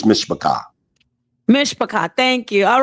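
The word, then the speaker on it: משפחה: Mashapat. No, that's not it. How do you say family? I forgot. Damn, that's family in Hebrew, and family in Hebrew is mishpachah.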